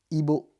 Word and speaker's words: Ibo: Ibo. Ibo. Ouais. Si je sais prononcer, en fait, ça va, Ibo.